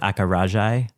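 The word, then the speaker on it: acarajé: I'm going to butcher the pronunciation. Uh, it's called Akaraji.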